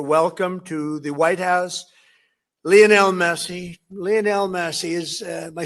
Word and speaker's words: Lionel: Isn't it Lionel Messi? Isn't that how you say it? Not Leonel. It's Lionel, right? Lionel Messi, and he said Leonel.